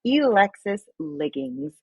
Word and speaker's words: Elexus Liggins: It's Elexus Liggins.